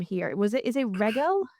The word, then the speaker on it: Regal: Is it Regal? It's Regal. Regal. See, I've butchered the name in my intro.